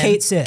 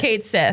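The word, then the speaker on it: Cait Sith: Kate Shish. Shish. Shishish. The Banshees of Inisharn. Yeah, whoever can do the Irish pronunciation for it.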